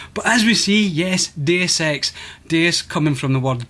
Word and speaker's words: Deus Ex: deus ex and then he goes on to dsex no it's definitely deus ex as in deus ex machina so he's i think